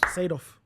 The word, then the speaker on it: Seedorf: Seedorf.